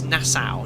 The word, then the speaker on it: Nassau: How do you pronounce this? Nassau.